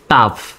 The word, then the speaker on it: tough: তো এই শব্দটা দেখেন TOUGH, এই শব্দটার উচ্চারণ হলো টাফ, তয়কারে টা ফ, টাফ মানে কঠিন। এই শব্দে কিন্তু GH এর উচ্চারণ ফর মতো।